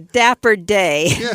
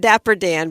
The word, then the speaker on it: Dapper Day: keep saying it wrong, is the Dapper Day, not Dapper Dan, but Dapper Day Expo is coming to the Disneyland Resort next month.